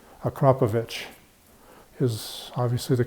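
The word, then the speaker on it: Akrapovič: I always call them Akrapovic, but if you call them up, the way they answer the phone there is Akrapovic. Like there's an H on the end. Akrapovic is obviously the correct pronunciation.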